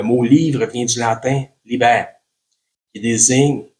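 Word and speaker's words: liber: Le mot livre vient du latin libère qui désigne L i B e R. Souvent en en latin le B se prononce comme un V un V subtil une vache comme un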